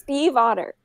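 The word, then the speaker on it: Stiefvater: But yeah, pronouncing it correctly, saying it fast, it sounds like Steve Otter, like the animal, but there's still the V you're supposed to pronounce very subtly.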